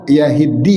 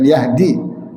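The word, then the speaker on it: يَهِدِّي: Kata Allah yahiddi bacanya ya. Bukan Yahdi. Yahiddi bukan Yahdi. Yang pertama Yahdi, yang kedua Yahiddi.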